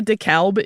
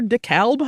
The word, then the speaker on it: DeKalb: Here we pronounce the L, so it comes out sounding like the crossword puzzle word for a white vestment worn by clergy.